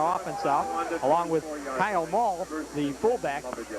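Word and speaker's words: Maul: out, along with Kyle Mall, the fullback. It's pronounced M-A-U-L.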